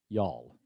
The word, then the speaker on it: y'all: to pronounce that is y'all it's one syllable not you all y'all so get used